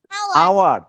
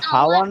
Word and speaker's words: hour: আওয়ার। কিন্তু এটা তো হাওয়ার না, HOUR হাওয়ার না, আমরা হাওয়ার না বলে কি বলছি, আওয়ার বলছি। আমরা কি বলছি এটাকে, এটাকে হাওয়ার বলি না, তো বলি আওয়ার, রাইট?